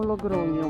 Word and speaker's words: Logroño: Ça s'écrit Logroño, mais les Espagnols me corrigent. Ils disent… Bon, il faut s'intégrer, non ? Logroño, Logroño.